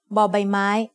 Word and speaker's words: บ: As the initial consonant of a syllable, บอใบไม้ makes the sound b like the b in bucket. You can also think about the shape of บอใบไม้ as a bucket, which might help you remember its sound.